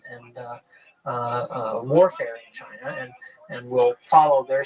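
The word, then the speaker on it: Qin: historical identity a people called the chin uh which in in the pinion system is spelled q n uh the chin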